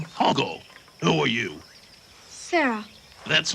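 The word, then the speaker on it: Hoggle: counter of how often someone mispronounces Hogg's name Horrible no I ain't I'm Hogle who are you Sarah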